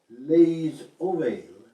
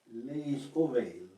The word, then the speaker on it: les oreilles: So notice the final S on les is not really pronounced, but if the plural word starts with a vowel, then the S has to be pronounced.